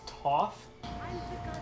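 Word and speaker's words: Thoth: names no it's pronounced ang andrew gosh it's pronounced toth her dress is too much but also not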